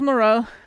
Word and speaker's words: morale: Okay, so it's morale. Interesting. Morale. That's that's that's very corral.